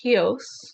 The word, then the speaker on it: Chios: It's spelled like Chios, but it's pronounced Chios.